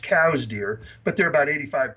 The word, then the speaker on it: Coues: And for those people who are watching that think, Midwest whitetail, no, these are Coues deer, or properly pronounced cows deer, but they're about